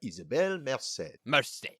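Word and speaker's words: Isabela Merced: the name uh well her name is uh isabelle merced sorry you know uh isabella it's fine i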